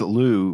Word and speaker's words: Looz: So this place, Loo, which is spelled Looz, L-O-O-Z, that's the French way of saying the town's name.